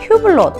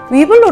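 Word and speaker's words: Hublot: 말씀하시자 나요 처럼 것처럼 에르메스의 h 를 키에 시 아닌 이해 후 로 발음하는 것 처럼 위블로 도 위블로 로 발음을 해야 돼요 그 이유는 에르메스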